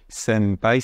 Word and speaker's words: senpai: D'ailleurs, on reviendra sur la prononciation, que évidemment c'est senpai, ça ressemble à un M plus qu'à un N.